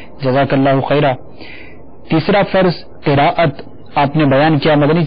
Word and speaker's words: قراءت: ہے اس بندے کی۔ اصل یہ ہے کہ قراءت ہے عربی کا لفظ، اور جو عربی کا لفظ اس کو عربی تلفظ نہیں پڑھا جائے گا، یہ اصل میں قرت بن جاتا ہے ہمارے اردو کی وجہ سے، کہ اردو میں چونکہ